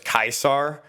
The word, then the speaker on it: Caesar: story of a guy his name was kaisar and his best friend uh Brutus he betrayed him and so now everyone pronounces his name as Caesar and we got a